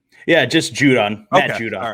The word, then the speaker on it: Judon: you say that guy's name right yeah just judon all right yeah so like where is he